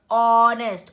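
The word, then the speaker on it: honest: और ऑनेस्ट, ऑ साउंड से शुरू हो रहा है, एच है पर एच साइलेंट है।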